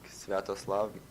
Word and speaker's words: Sviatoslav: If you want to know his pronunciation, by the way, this is how he pronounces his name. It's like Sviatoslav Mikhailuk.